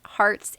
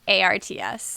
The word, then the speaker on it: Harts: I just want to add for people who are searching that it's not Hearts, Hearts, it's Harts.